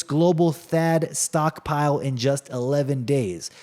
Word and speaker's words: THAAD: THAAD, you know, it rhymes with BAD, and that's exactly what it is for your wallet.